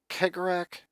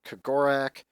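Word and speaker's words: Cegorach: Now, you can pronounce Kegorak, Kagorak. There's a whole lot of ways to pronounce the Laughing God's name of the Eldar.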